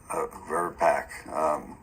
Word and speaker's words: VRBPAC: Is it VRBAC? VRBAC? VRBAC? How does it normally pronounce? VRBAC.